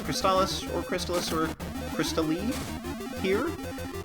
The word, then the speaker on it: Crystalis: on television for this game the announcer says cristalis pronounced as such although that's that's sort of a